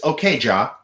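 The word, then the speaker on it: Okja: This is a reae film that the proper pronunciation is. Okay, jaw.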